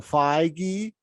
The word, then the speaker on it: Feige: pronounce it right and it says uh f y g e g h e so phi gee uh but it's kevin